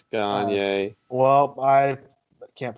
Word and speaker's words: Gagne: It's Gagne. Well, I can't pronounce it.